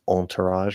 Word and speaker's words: entourage: the syllable before raj uh no it's ah um because this is originally a french word i'm pretty sure they say all right with that like nasal like entourage or something like that um